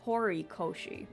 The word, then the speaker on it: Hiroshi: It's not Hero. It's Horoshi. Oops. I've been saying her name wrong.